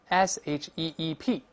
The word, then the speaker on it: sheep: 好多，你像绵羊，sheep。